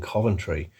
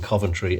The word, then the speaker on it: Coventry: And interesting, but also a bit silly that Sheridan keeps pronouncing Coventry as Coventry, because obviously he's got the word coven at the start, so Americans probably think, oh, it's Coventry, isn't it? It's Coventry. But yeah, nice injection of British history there.